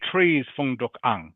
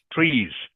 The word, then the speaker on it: trees: just be careful F remember tree has an S on the end okay have to be make sure you pronounce that clearly can you say trees trees trees better okay I heard